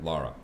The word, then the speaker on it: Lara: Lara.